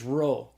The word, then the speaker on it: rho: So the rho is the R sound, like the R in the English word rod.